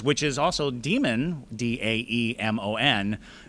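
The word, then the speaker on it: daemon: But the divas there were, I believe they're spelled D-A-E-V-A, but they're pronounced divas, which is also demon, D-A-E-M-O-N, pronounced demon.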